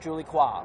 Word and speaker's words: Julie Coin: goes down to qualifier Julie qua what happened today well I guess Julie qua or Julie coin as her name is spelled in Anglo is coin of the